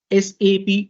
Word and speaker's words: SAP: processing all right now we always pronounce this as sap only and not as sa okay but why uh